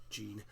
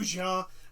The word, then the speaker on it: Jean: Because I only know it because I only pronounce it like that because it's the same spelling as Jean from Attack on Titan.